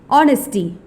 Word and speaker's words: honesty: misspell it as opp-u-r-t-u-n-i-t-y honesty h-o-n-e-s-d-y where H is silent subtle s-u-b-t-l-e where B